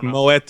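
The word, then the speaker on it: Moët: wouldn't so um I Moet and Shandon right so so you do sometimes pronounce the T at the end of those French words it just depends okay anyway this has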